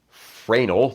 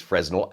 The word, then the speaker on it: Fresnel: That's phase Fresnel, not phase Fresnel as it is spelled, but phase Fresnel lens.